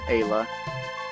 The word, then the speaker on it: Ayla: it but i would i would go with ayla i mean come on come on it is kayla without the k kayla respects strong people